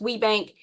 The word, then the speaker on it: WBENC: It's pronounced WBENC.